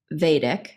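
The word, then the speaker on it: Vadic: I remember auditioning for Vadik, but is that the way they're pronouncing it? Yes, it's Vadik.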